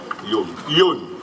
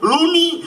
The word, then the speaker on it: lluny: Lluny. A ver cómo lo dicen lluny. Luni o lun, no. Lluny. Muy lejos, molt lluny.